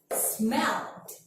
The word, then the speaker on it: smelled: So if you have the verb that ends with L, V, N, B, and all of the vowel, you have to pronounce it like D. So repeat what I say. Smelled, saved, cleaned, rubbed, like that.